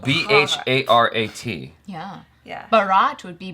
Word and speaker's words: Bharat: There's two, like the H is aspirated. But it's spelled Bharat. Yeah. Yeah. Bharat would be Barat.